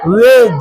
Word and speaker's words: wedge: हेज, D silent, हेज, WEDGE, वेज, D silent, वेज।